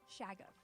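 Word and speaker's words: Shoggoth: It's Shaggoff. 2 F's at the end. Oh, replace those F's with a TH. Shaggoth.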